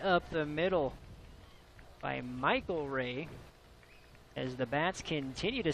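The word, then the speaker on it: Rhea: Now, folks, if you're wondering about the Rays, Butch Ray, it's spelled R-E-A. Michael Ray, it's R-H-E-A. Sounds the same, no relation.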